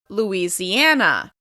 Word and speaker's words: Louisiana: Louisiana. Like Indiana, it's stressed on the second to last syllable.